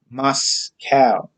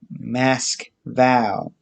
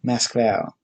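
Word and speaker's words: Москва: to his city as moscow russians themselves call it and pronounce it mask vowel with the emphasis on the last syllable vowel mask val because in all but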